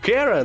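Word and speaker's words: Chara: Так-то её имя правильно читается как Кера, но для удобства буду называть Чарой.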